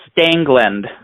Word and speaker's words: Stangeland: you pronounce your last name correctly it is pronounced stangland just want to make sure I don't want